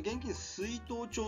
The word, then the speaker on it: 現金出納帳: まあ、最初の現金出納帳、これ現金出納帳と読むんですけど